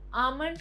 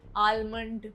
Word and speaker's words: almond: Almond को अक्सर almond बोला जाता है, but the correct pronunciation is almond.